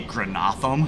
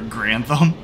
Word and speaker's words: Grantham: Did crew chief say Granatham for Grantham? Like, what kind of pronunciation is that? Granatham!